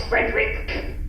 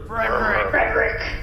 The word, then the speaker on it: Frederick: with your cousin it's frerick I'm sorry but you have to say it like you're swallowing the words it sounds like a cough sort of frck okay yeah that's fine